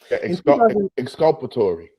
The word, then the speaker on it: exculpatory: and failing to disclose exculpatory evidence. I still pronounced that wrong. Exculpatory. Exculpatory.